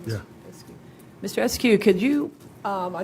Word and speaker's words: Eskew: Eskew, is that how you pronounce his name? Yeah. Eskew.